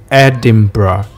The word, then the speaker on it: Edinburgh: 是一样，按字面读就会读成 Edinburgh，像 neighbor 对吧，但其实当地人是念 Edinburgh。